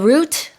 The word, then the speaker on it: route: So air route is the route. I think we pronounce it differently in different countries, but route or route, it can be pronounced both ways.